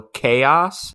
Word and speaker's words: Kaos: Speaking of Jeff Goldblum, I highly recommend that everybody watch that show Chaos on Netflix. It is so good. It's 8 episodes long. It's spelled Kaos.